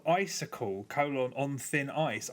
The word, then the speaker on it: iCycle: an iOS game called icicle colon on thin ice icicle spelled with a Y so it's I cycle okay this has been